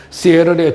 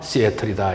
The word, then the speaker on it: Seattle: 그 다음에 이제 시애틀은 우리나라 사람들은 시애틀이라고 하지만은 미국 사람들 발음은 T자 발음을 약하게 합니다. 그래서 시애틀을 시애틀이라고 이야기를 하죠. 시애틀의 주요 경제 지표와 산업 구조에 대해서 말씀을 드리겠습니다.